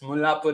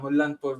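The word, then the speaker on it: Mullanpur: got the pronunciation right it's Mulapur and not Mulanur which is what a lot of Indians tend to say so Good on you for getting that one.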